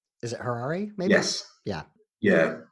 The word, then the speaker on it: Harari: I'm going to get the author's name wrong. Is it Harari, maybe?